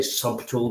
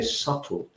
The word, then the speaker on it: subtle: So with a silent B, we don't say subtle, we say subtle.